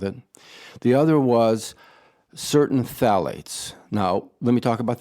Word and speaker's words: phthalates: the pH correct yeah phthalates you don't pronounce the pH it's spelled p-h-t-h-a-l-a-t-e-s but you don't pronounce